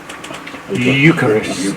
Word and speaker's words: Eucharist: is often called the H how do I pronounce that Eucharist Eucharist yes that one but you're the one